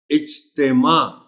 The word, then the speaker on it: اجتماع: ہیں۔ مقابلہ۔ اجتماع، اب اس میں 2 نکات ہیں خاص اس لفظ کے تلفظ۔ ایک تو یہ کہ تے کے نیچے زیر کو نمایاں کر کے پڑھنا ہے، اور دوسرا پتہ چلے کہ عین ہے آخر میں، لیکن اگر آپ تے